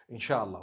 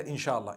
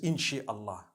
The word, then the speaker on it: inshallah: it together inshallah inshallah but we know in the Arabic it's three separate words if Allah Wills right how do you say create Allah you would say is the it is the instruction right the command in means to create no one says in Allah they say inshallah that's what it is